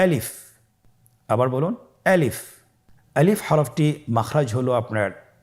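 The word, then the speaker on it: ألف: আমাদেরকে বলতে হবে বলুন আলিফ আলিফে কিন্তু কোন টান নেই আপনারা বুঝতে পারতেছেন আমি যখন আলিফ বলছি এর মধ্যে কোন টান হবে না। আলিফ। আবার বলুন আলিফ।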